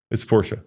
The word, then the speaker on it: Porsche: do you say Porsche it's Porsche okay why it Porsche because in I said in German you pronounce all the letters so how do you